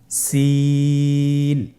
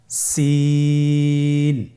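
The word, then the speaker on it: سين: সিন হরফটি বারিক হরফ, পাতলা করে উচ্চারণ করতে হবে। তাহলে আমার সাথে বলুন, সিন। আবার বলুন, সিন।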